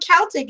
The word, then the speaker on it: Celtic: Well, I know Celtic is the right way to say it, and Americans ruined it. Unless you're talking about the soccer team.